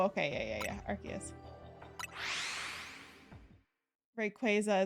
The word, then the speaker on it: Rayquaza: Rayquaza isn't Quaza.